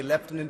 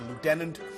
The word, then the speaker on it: lieutenant: Lieutenant Colonel Tuli gabard we say leftenant the Americans say Lieutenant a 21-year military veteran